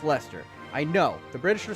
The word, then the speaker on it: Leicester: And yes, it is pronounced Leicester.